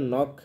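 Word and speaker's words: knock: হবে নয়ের মতো হবে এই ক্ষেত্রে কের খের উচ্চারণটা অনুচ্চারিত থাকে খেটা অনুচ্চারিত থাকে যেমন বলছিলাম নক নাইফ নেক লেখার ক্ষেত্রে কিন্তু সবগুলোতেই খে আছে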